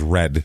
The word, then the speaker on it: Redding: Pennsylvania reading is reading, right? This is not. This is red. Re d i n g.